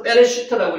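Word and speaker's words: בראשית: 그까 지난번에 빼슈트라고 읽을 때는 왜 그렇냐 하면은 요게 경강점이라고 위에 있으면 안에 점이 안에 있으면 좀 강하게 읽습니다. 그래서 빼레시트라고 읽어 읽습니다.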